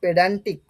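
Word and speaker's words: pedantic: next এটার প্রনান্সিয়েশন কি হবে এটার প্রনান্সিয়েশন হবে পেডান্টিক পেডান আচ্ছা পেডান্তিক বিষয়টা কিরকম ধরো মানে ধর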